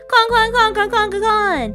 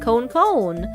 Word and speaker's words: kon: Con. I say con. And sometimes I'm a little bit lazy when I say con and I pronounce it a more American way and say cone.